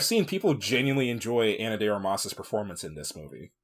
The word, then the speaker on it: Armas: Like from from everything I've seen, people genuinely enjoy Anna Armas's performance in this movie. It's Armis. Well, it's Armas. Armis. The the pronunciation is on the first syllable.